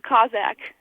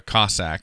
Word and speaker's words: Cossack: Yeah, our mascot is the Cossack, a pretty unique one.